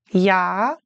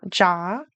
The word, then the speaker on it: ja: So in German, J usually sounds like the English Y. Like ja and yes are kind of similar. It's not ja, it's ja or Juli is July.